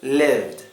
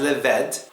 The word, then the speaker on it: lived: Now it's very important not to pronounce this as lived or rabed. It's best to pretend as if that E isn't even there. Pretend it's not there.